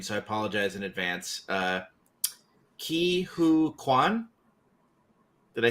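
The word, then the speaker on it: Ke Huy Quan: The one win that I liked, and I'm gonna mispronounce his name, so I apologize in advance. Ki Hu Kwan.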